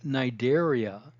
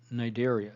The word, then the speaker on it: Cnidaria: invertebrates is is the nidaria the C is silent nidaria so the major cell